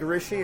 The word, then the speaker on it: Rishi: No, it's like Rishi is like Richie, but feminine. Instead of the C, it's an S.